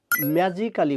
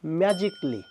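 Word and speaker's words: magically: সো দ্বিতীয় যে শব্দ সেটি হচ্ছে ম্যাজিক্যালি বলে থাকি। আমরা হবে ম্যাজিকলি।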